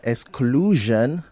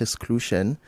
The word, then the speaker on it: exclusion: And then exclusion, not exclusion.